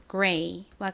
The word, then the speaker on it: gray: 이렇게 R의 뒤에 모음이 나오면 입을 좀 오므렸다가 벌리면서 발음을 한다 그랬죠. 그래서 그레이가 아니라 gray와 같이 발음을 합니다. gray의 의미는 회색이죠.